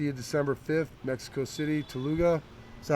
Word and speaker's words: Toluca: We'll see you December 5th, Mexico City, Toluca. Is that how you pronounce that? Yeah, Toluca.